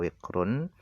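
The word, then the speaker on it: وقر: daripada mendengar dua muatan alwiqru bikasril wawi wa suukunil qof jadi cara baca wikrun itu adalah bikasril wawi dengan cara dibaca kasrh wawya wikru kemudian wasukunil qof dan disukunkan qofnya wikru seperti itu Nah makna daripada alwikru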